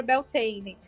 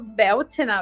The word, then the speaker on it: Beltane: E aí foi que eu descobri que é a pronúncia gaulesa de Beltane, né? Não sei se vocês já sabiam disso ou souberam nesse livro, mas é Beltane.